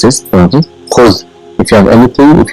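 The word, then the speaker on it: خذ: What it is pronounced is khuz.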